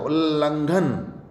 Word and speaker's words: उल्लंघन: ले डबल आएगा यहाँ पे, ले आधा होगा एक। उल्लंघन। उल्लंघन। उल्लंघन उच्चारण भी इसका ऐसा होगा, उल्लंघन।